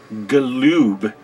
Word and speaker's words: Galoob: about series to WCW Galoob figures see how I said that lube that's the that's the proper way to pronounce it in Lube as you